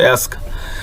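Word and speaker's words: ask: শিক্ষার্থীর বন্ধুরা, আমরা কিন্তু এই শব্দটাকে অ্যাস্ক, আমরা অনেকে আস্ক বলি, এটা কিন্তু আস্কড হবে না, সঠিক উচ্চারণ হবে অ্যাস্ক।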